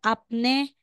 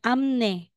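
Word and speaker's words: 앞니: Nia magig din po hindi siya apne magiging amne next tayo slide if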